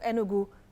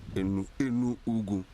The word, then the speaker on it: Enugu: This is what our correspondent, Carlo Fournier, tries to find out in the city of Enugu, southeast Nigeria.